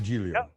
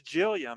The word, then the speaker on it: Giglia: So the first one's like a J sound, and the second one is silent.